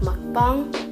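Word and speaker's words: 먹방: was more of uh pronounced more like mukbang so yeah now I'm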